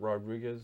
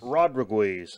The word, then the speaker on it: Rodriguez: Is it Robert Rodriguez? Rodriguez, I believe it's pronounced.